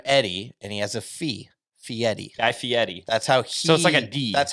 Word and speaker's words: Guy Fieri: let's talk about guy fieri you got it guy fury i said yes just butchered it there's a guy named eddie and he has a fee fiery guy fieri that's that's how he describes how